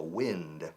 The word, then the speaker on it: wind: Se escribe igual que viento, wind, pero se pronuncia wind.